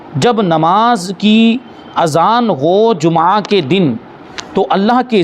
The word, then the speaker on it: جمعہ: میں رکھیں گے کہ ہم جمعہ بول دیتے ہیں، لیکن حقیقت میں عربی لفظ ہے یہ، اور عربی میں اس کا جو تلفظ ہے وہ ہے میم پر بھی پیش، جیم پر پیش ہے، میم پر بھی پیش ہے۔ جمعہ ہے عربی میں، جیسے عام بول چال